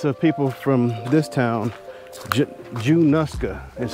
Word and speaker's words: Junaluska: could not descendants of people from this town Jew nuska is how they pronounce it so anybody from januska you have